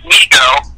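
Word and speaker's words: Mego: let me reso Brian it's not Lego it's Migo because I'm a personal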